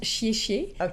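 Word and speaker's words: Xie Xie: Ça se prononce chié-chié.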